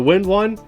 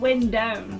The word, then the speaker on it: Windone: Now a debate between me and my wife, is it the Wind1 or the Windone? I said Windone.